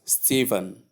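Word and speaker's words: Stephen: S T E P H E N pronounced as Steven and the transcription is S sound to sound long E sound for sound silent R a sound and then sound which when we combine we have Steven.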